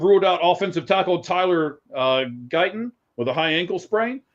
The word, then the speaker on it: Guyton: The cornerback, Diggs being out, or offensive tackle, I believe it's Guyton is how it's pronounced.